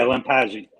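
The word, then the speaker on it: Lampasi: Lampazzi? Yeah, Lampazzi.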